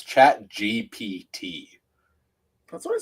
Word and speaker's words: GPT: It's chat gpt. That's what I said. Yeah, you've been saying GTP. No, GTP. Oh, GPT.